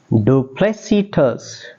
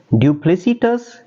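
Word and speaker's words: duplicitous: हमारा next word है Dupleix सिटस du Plessis du Plessis अच्छा इसी को इसी लफ्ज को डू या फिर ड्यू दोनों तरह से प्रोनाउंस किया जा सकता है डुप्लीसीटस या फिर डुप्लीसीटस तो आप देखें इसके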